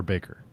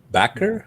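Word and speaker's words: Bakker: Is it Backer or Baker? Backer, I believe. Backer, I think. Yeah. Okay. B-A-K-K-E-R. I've been mispronouncing it all this time.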